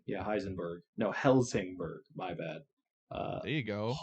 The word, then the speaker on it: Helsingborg: Kiruna, Lund, Heisenberg? Yeah, Heisenberg. No, Helsingborg. My bad. There you go. You can't even pronounce Holmstad, Kalmar, Ystad.